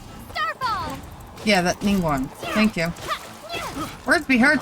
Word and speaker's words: Ningguang: Night, however you say night. Can't say her name. Starfall! Yeah, that Ningguang.